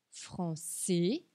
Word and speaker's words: français: Français, congolais, sénégalais.